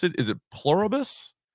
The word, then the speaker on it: Pluribus: I don't even know how to pronounce it. Is it Pluribus? Pluribus, yeah.